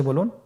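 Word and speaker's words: ب: আমাদের স্ক্রিনে চলে এসেছে বা বা হরফটি কিভাবে উচ্চারণ করবেন বা হরফে টান হবে এক আলিফ টান আপনারা আমার সাথে বলুন বা আবার বলুন বা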